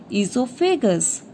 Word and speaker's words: esophagus: This tube is called esophagus. O is silent here.